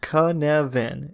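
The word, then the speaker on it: Cynefin: them to make mistakes Keynesian pronounced conovan is a Welsh word that signifies the multiple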